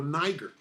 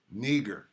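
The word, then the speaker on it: Νίγερ: the truth is okay neger that's how you say it strong G 3526 ner ner so if Niger means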